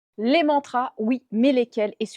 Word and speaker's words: mantra: souvent utilisé dans les mantras et qui est un petit peu comme un e très subtil plutôt qu'un a. Par exemple, le mot mantra n'est absolument pas prononcé correctement.